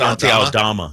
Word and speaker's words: Aldama: Asante Aldama.